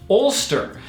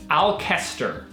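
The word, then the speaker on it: Alcester: the name of the town is that it's pronounced Ulster but when we went there we'd seen it on maps and everything and we arrived pronouncing it al Kester because it's spelled like this and that is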